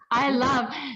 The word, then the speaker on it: Ilov: How do you say? I love.